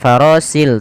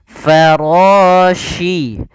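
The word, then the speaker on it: الفراش: Ini hati-hati, di sini huruf shin. Bukan huruf si, bukan farasil tapi farashi.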